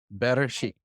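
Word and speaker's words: בראשית: Better sheet.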